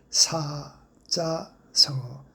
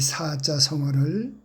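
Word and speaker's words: 사자성어: 제가 사자 성어라고 했습니다. 사자 성어. 사자 성어가 아닙니다. 짜자로 발음해 주십시오.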